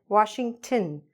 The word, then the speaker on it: Washington: So, here, it becomes "un", "un"; not "ton", but "tin": "Washingtin". That's what you should be saying when you say the name of this place.